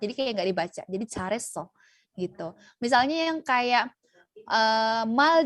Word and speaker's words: 잘했어: Contohnya kata yang barusan aku sebutin, 잘 했어. Kalau dibaca cepat bukan jadi L tapi 잘했어. Kenapa? Karena si L ini ketemu sama huruf H, yang mana H itu tipis banget, jadi kayak nggak dibaca.